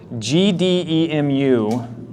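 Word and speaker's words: GDEMU: was here because I feel like I'm gonna mispronounce this GD muu I think uh is that right yeah yes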